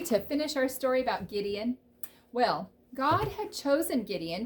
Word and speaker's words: Gideon: finish our story about gideon well god had chosen gideon to deliver israel and he was to lead the soldiers to fight those midianites remember gideon kind of rhymes with midian and they had been